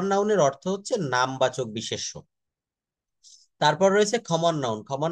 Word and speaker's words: বিশেষ্য: common noun জাতিবাচক বিশেষ collective noun সমিষ্টিবাচক বিশেষ material noun বস্তুবাচক বিশেষ না দেখেন এগুলো আমি একটু পড়ে দেই এটা বিশেষ না এটা উচ্চারণ করতে হবে বিশেষ্য হ্যা বিশেষ্য যেমন বাংলাতে